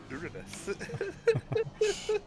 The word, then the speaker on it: Uranus: It's pronounced Uranus.